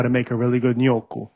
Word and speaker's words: gnocchi: And they said, oh, you mean gnocchi is what that's actually Who? called. Yeah. Wait a minute. Say that one more time. Yo, It's actually pronounced nyoku. Noku. Nyoku. Okay.